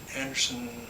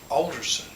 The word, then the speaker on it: Alderson: She's in Anderson, how do you say that shit? Alderson, West Virginia.